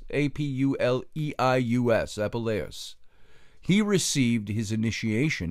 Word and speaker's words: Apuleius: ahead of time from my notes so I pronounced him right Apple s APU le I u.s.